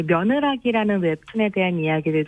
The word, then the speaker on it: 며느라기: 근데 이 작품에 대해 처음 들어보시는 분들은 아마도 며느라기라는 제목을 며느리를 귀엽게 부르는 말인 며느아기로 생각하실 텐데요. 그게 아니에요? 발음이 네, 똑같은데. 며느아기가 아니라 며느라기입니다. 며느라기.